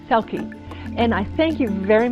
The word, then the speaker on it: Selke: selkie like in star selkie and i thank you